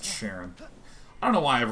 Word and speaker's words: Charon: up for a bridge it's pronounced sharon i don't know why